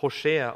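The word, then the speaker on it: הושע: sein name ist rosé und hebräischen wird das roche ausgesprochen was bedeutet ja wer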